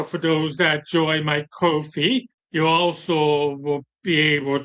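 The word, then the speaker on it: Ko-fi: to need to join my Kofi or coffee because I the idea is you support creators by buy them a digital cup of coffee, but it's spelled Ko D- FI.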